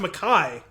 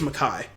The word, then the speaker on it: MacKay: I actually looked up the pronunciation because I wasn't sure if it was Mackie or McKay, and I think it's Mackay.